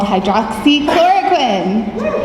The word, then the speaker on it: hydroxychloroquine: She has treated thousands of patients who have COVID-19 with a drug called hydroxychloroquine.